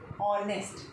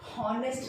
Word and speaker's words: honest: HONEST, ऑनेस्ट। इसको हम ऑनेस्ट बोलेंगे, हॉनेस्ट नहीं बोलना है, हॉनेस्ट नहीं, ऑनेस्ट। इसमें H साइलेंट है।